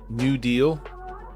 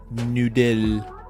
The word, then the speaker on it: Noodle: New Deal. Oh, no, it's actually pronounced noodle. Like noodle.